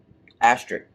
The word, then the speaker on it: asterisk: Asterisk. Asterisk? Asterisk. Okay. What do you mean K? Asterisk? It's not pronounced like it sure is.